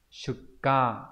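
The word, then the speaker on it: 出荷: Câu 20 đây là chữ xuất và chữ ha, đọc là gì nhỉ? Shuka, đúng nhỉ?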